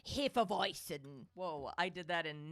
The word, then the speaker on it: Hefeweizen: It's pronounced Hefeweizen.